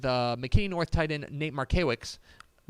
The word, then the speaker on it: Markiewicz: Then Powers talked with McKinney North tight end Nate Markiewicz. You Close. added in an extra syllable. Yeah. Didn't need to be there.